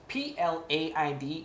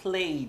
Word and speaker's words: plaid: Plaid is plaid, not played. Be careful there.